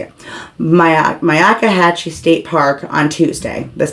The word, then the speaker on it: Myakkahatchee: he was going to go hiking in the Myakkahatchee State Park. That's how you say it. Myakkahatchee State Park on Tuesday, this past Tuesday.